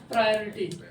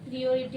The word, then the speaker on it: priority: तवज्जो देना अथवा प्राथमिकता देना, प्रायोरिटी, प्रायोरिटी, क्या देना? तवज्जो, प्राथमिकता देना, प्राथमिकता देना, प्रायोरिटी, PRIORITY, प्रायोरिटी, प्रियोरिटी हो गया। प्रायोरिटी इज the proper pronunciation.